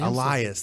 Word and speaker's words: Elias: vs I what's his name the drifter addressing Elias that is how you pronounce it yes no lion Samson Samson gets